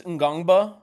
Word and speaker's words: Ngongba: in front of him so Adam Rose says gangba okay great Patrick gangba love it um either